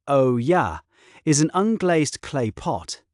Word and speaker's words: olla: An Olla, pronounced O-ya, is an unglazed clay